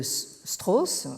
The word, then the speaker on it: Strauss: Alors, on peut relever deux thématiques de Strauss, je prononce à la française, réappropriées aujourd'hui par les straussiens chinois.